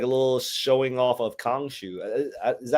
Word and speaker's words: Khonshu: It's Blade with a blade, and then we got like a little showing off of Khonshu. Is that how you pronounce his name?